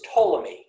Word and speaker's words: Ptolemy: next next up is ptolemy spelled with the silent p and this is many